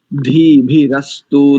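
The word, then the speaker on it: धीभिरस्तु: भी रस्तु नहीं ी दोनों ही महाप्राण है धा भी और भा भी धी भी रस्तु धी भी रस्तु एक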